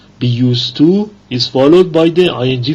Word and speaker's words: used to: In B, be used to is followed by the ing form of a verb, a gerund. Note, in both used to, habitual past, and be used to, the D is not pronounced.